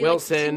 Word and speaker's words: Wilson: Wilson like rhymes with Schmilson.